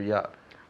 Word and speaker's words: job: Job es una J. Cuando dices Jennifer, January, job. No me digas job. Job? No. Job. Eso, job, con fuerza, job.